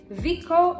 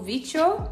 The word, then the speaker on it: Vicco: The next song we have to react to is Vicco or Vicho. Double C in Spanish is pronounced the X sound.